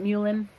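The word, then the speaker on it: mullein: Um some people call it muin. Um if you look up the pronunciation it says mullen but it doesn't really matter how you say it.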